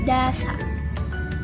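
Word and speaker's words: दस: Nah, yang terakhir itu adalah das dalam bahasa Hindi. Karena kalau dalam bahasa Sanskertanya kita kenal sebagai dasa. Jadi kita dalam bahasa Hindinya kita tahu sebagai das.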